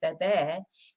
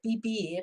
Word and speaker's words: beber: was looking at previously, beber, if you said it wrong and said bibir, it would sound like you were saying this instead of to drink, you were saying to live.